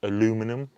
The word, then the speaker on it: aluminum: In this car, I've got carbon fiber, I've got brushed aluminium, or aluminum as the Americans say, I've got Alcantara, and I think, again, and I call it fabric slash carpet, okay?